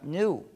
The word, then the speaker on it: GNU: Se usa en muchísimos juegos de palabras porque, según el diccionario, la G es muda y la palabra se pronuncia new, es decir, nuevo.